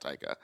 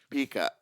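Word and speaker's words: pica: Sorry, not taika. Uh, pika. And I was like, "Paha, that's how you say it."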